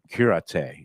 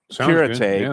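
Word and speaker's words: Cúrate: People said people in the business here said, "Oh, you're going to actually you've got to go to Curate." And it's pronounced curet, but it's it's spelled like curate, but it's okay.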